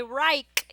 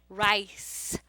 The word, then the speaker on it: rice: You can't say Reich. You have to say rice with the S because that silent E at the end comes after the C.